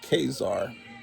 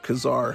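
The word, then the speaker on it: Ka-Zar: Astonishing Tales Kazar Technically, Marvel says you're supposed to pronounce it Kazar. Okay, but I've always pronounced it Kazar, so it's going to be real hard for me to change that.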